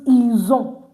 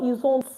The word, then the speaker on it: ils ont: We use ils ont, they have. Please, no ils ont. Don't pronounce the T.